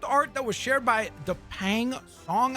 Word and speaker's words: Dapeng Song: So this is concept art that was shared by Dapeng Song, I believe is how you pronounce it. It's D-A-P-E-N-G, and then Song as in song.